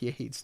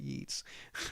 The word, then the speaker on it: Yeats: Yeats is pronounced Yates, not Yeats.